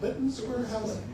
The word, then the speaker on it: Lytton Square: But down at Lytton, is it Lytton Square? Okay, that's how it's pronounced.